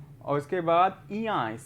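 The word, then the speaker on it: ञ: और उसके बाद इया, इसको पढ़ते हैं हिंदी में, जो इस वर्णमाला का उच्चारण होता है इया होता है।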